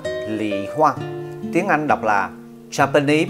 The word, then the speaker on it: 李花: Tiếng Trung Quốc đọc là lị hoa, tiếng Anh đọc là Japanese Plum Blossom, tiếng Latin là Furunus salicina và salicina.